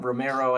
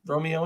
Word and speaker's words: Romeo: Romero, I get that a lot. It's like, no, it's just Romeo and Juliet, just like it's spelled.